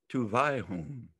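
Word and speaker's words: tubwayhun: b w a y h u n is pronounced tuvai whom to high home to by whom i am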